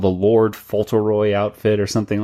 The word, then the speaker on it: Fauntleroy: it's called the Lord Fauntleroy outfit or something like that. Or Fauntleroy. Yeah, I think that's actually the correct pronunciation.